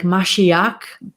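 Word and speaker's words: משיח: where that came from if you were hebrew you would pronounce it more like mashiach but because most of us are not hebrew we'll go with the english transliteration which is messiah and this word we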